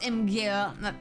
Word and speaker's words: Imgur: It's pronounced Imgur.